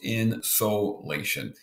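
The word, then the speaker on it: insolation: in the so Latian but the one is pronounced in Seoul Asian and again it's just another word for energy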